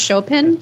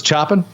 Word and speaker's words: Chopin: heard of chopin um this guy is pronounced chopin chopin yeah chopin yeah you always thought it was chopping that's what it's read as as my american brain yeah maybe if you're